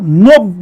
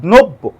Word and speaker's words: নব্য: খেয়াল করে দেখেন, যেহেতু এখানে একটা জ ফলা আছে, তার মানে এর আগের যে বর্ণ ন, এর সাথে একটা ওকার উচ্চারণ হবে, তাহলে এটা কিন্তু নব্য না, এটা নব্য উচ্চারণ করতে হবে, নব্য।